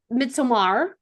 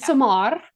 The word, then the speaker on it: Midsommar: So much like uh Midsommar. Thank you for Uh, pronouncing it correctly. I do yeah, appreciate it. Midsommar.